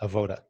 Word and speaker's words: avodah: okay have o da you may hear pronounced avodah basically to illustrate the